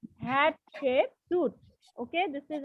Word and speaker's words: Hatshepsut: Yes, Hatshepsut. Hatshepsut. Okay, this is how you should pronounce it.